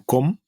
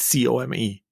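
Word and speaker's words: Come: express our gratitude to Com. Finally, I pronounced his name correctly. It's C-O-M-E, but pronounced as Com.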